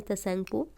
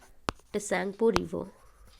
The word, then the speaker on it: Tsangpo: The project was Yasulat Yarlung Tsangpo River, not T is silent here.